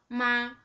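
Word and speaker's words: 马: The third one with the third tone,Its pronunciation is just like this. Mo a ma. Ma. This is a character for ma. It means horse.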